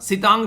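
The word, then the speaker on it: Sitrang: सितांग basically are silent है, याद रखिएगा, और ये बे ऑफ बंगाल वाली साइड में आप लोगों को नजर आ रहा है।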